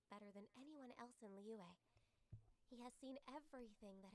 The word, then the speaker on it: Liyue: Oh, Liyue, that's how you say it.